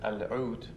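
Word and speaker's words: العود: When it got into Spain, it became to the Spanish lauta instead of al-oud, which is how you say it in Arabic.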